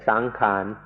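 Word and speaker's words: saṅkhāra: word which is san make it a little easier to pronounce and say sankan but in English books it will be spelled out sankara.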